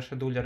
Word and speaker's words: scheduler: теперь отдельно поговорим про скетч у леры или scheduler а наверное scheduler и более правильно произносить русски это особо операторы